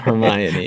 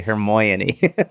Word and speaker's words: Hermione: Ah, that's how you say it. Hermione. Hermione. You always say, "Hermoyony". That's because... No, I say, "Hermoyny". "Hermoyny... " Because that's how it's spelled.